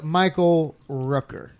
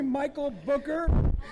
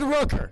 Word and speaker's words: Michael Rooker: Can you believe this guy called me Michael Booker? I said Rooker.